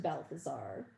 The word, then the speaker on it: Balthazar: named casper one named balthazar rhymes with hal the star and one named melchior